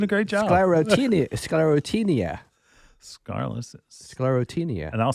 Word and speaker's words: Sclerotinia: Sclerotinia. And I'll spell it.